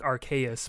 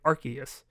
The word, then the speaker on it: Arceus: And in I would almost understand it if like it was pronounced like most like Arceus, but that's not what they were saying. They were saying Arceus.